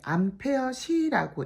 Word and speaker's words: Ah: 배터리 용량이 그러면 정답인 유도량이 되겠고 유도량이 지금 ah라고 나는데 암페어시라고 읽습니다.